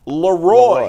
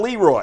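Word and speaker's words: Le Roy: It's spelled Leroy, but it's pronounced Leroy, Leroy, yeah. not Leroy.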